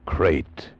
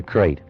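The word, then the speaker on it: krait: First, the crate. You spell it K R A I T.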